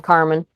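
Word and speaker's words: Kar Man: It is spelled Kar spacebar MAN. I just say the name Carmen.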